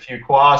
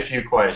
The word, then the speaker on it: Fuqua: Some people pronounce it Fuqua, some Fuqua. Depends on whether in the country you are, but we say Fuqua, so you bet you got it perfect.